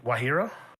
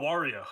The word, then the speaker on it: Wario: Again, if that's your passion and stuff like that, just like, how do you say his name? Who? Say it again. Wahiro? Oh, Wario. Yeah.